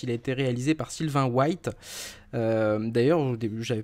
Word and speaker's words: Sylvain White: Sylvain White, en fait, je pense qu'on prononce White puisque son père était un basketteur américain. Donc Ah il oui, faut le d'accord. prononcer à l'américaine, mais sa mère était, était française. Mhm. Donc du coup, ouais, c'est Sylvain White.